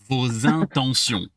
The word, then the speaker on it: vos intentions: Vos intentions. Vos intentions. Vos intentions. Yes, and with an S sound. Good job catching that right here. That's an S sound because we soften all those T's.